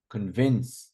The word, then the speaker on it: convince: no I agree agree convince see second not convince convin we don't say convinced